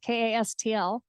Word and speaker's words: Kastl: last name is Kastl, Kastl, that is often misspelled, but it's pronounced just like Castle.